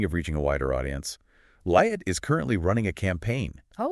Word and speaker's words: Liat: Speaking of reaching a wider audience, Liat is currently running a campaign Oh, wow.